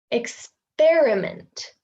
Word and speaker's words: experiment: So the stressed one is pronounced like we would expect the E to be pronounced, experiment. But we have also the schwa here. So it's not experiment, it's experiment, experiment.